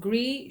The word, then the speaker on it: Gris: It's called Gris, Gris, but you don't pronounce the S. Gris Charnel.